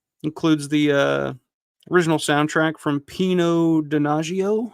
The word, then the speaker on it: Pino Donaggio: Includes the original soundtrack from Pino Donaggio. I believe that's how it's pronounced. Pino Donaggio.